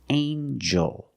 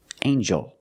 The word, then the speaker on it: angel: jump and Juice together with the n a regular n Sound not the nasal but the regular n anel angel angel this is an angel